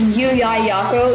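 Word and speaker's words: Llullaillaco: My favorite word is Yuyayako. It's spelled Lullallaco. It's really deceiving, I guess. There's not a single Y in the word.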